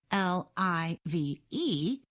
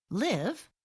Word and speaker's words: live: different pronunciations and meanings l i v e is pronounced live when the word is used as a verb and live when it is used as an adjective or adverb the program said there are